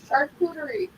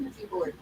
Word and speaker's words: charcuterie: Charcuterie. Charcuterie. Yes. Everyone tries to pronounce it a coochie board.